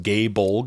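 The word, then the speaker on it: Gáe Bolg: The Dragoon, they know how to jump, and yes, that weapon is pronounced Gay Bolg, it's a spear from Irish myth.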